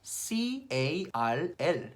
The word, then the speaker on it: Carl: 칼, C-A-R-L, 칼, 카라는 발음에다가 카을, R 발음에다가 L 발음으로 카을, Carl.